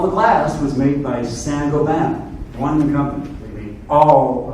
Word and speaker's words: Saint-Gobain: It's Saint-Gobain. It's Saint-Gobain. Gobain. That's the actual way to spell it, but the French don't talk the way they spell it. So it's Saint-Gobain.